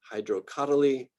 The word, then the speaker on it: Hydrocotyle: very strongly about this, pronouncing the third to last syllable. I've got a group down here at the bottom that are the third to last, otherwise known as the antepenultimate syllable. It's sort of like when you can pronounce that as the emphasized syllable.